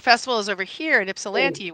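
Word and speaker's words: Ypsilanti: So I live in Detroit and the festival is over here in Ipsellante which is not pronounced Ylanti.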